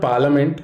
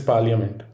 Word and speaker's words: parliament: the next letter is p it is not parliament it is parliament although some dictionaries have given up on it